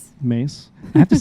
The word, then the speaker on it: Mees: Mace. I have to say Mees sometimes cuz people are like I don't they don't m e e s.